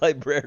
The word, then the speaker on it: library: It's library. What? It's pronounced library.